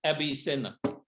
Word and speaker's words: Avicenna: or abnessina okay but in spanish the v is pronounced b and the b is pronounced v so when they write avi senna is actually pronounced abby cena okay okay but we